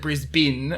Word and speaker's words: Brisbane: wrong cuz it's Brisb it's spelled Brisbane. Yeah, but we pronounce it Brisbin.